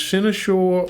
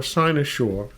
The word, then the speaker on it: cynosure: Our word of the day can be pronounced one of two ways, cynosure or cynosure. Cynosure.